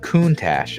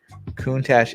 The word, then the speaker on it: Countach: lord business uh coontash okay countach is how you pronounce so lamborghini countach interesting